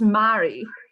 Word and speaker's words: Mairi: Hello, today I have, is it Mairi? It's Mairi. Mairi. Mairi rhymes with safari.